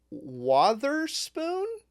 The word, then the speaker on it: Wotherspoon: Uh Sean Wotherspoon? Not Witherspoon. Not Witherspoon. Wother Hopefully, that's saying it correctly.